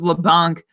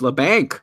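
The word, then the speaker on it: Labanc: way how disappointing was Leblanc in the opportunity I've stopped it's la Banque we've been connected on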